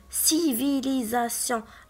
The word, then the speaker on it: civilisation: Donc, on va le prononcer S, civilisation.